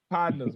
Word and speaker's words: Podnas: So if you wonder how to say it, you say it like, Podnas, man. Just Podnas, man. Like a pod. Nas. Podnas.